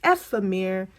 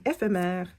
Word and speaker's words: Ephemere: This is how it's pronounced. Ephemere. Don't mind me and my French way of saying ephémère.